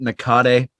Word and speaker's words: Nakade: Is it Nakade? Yes. Perfect.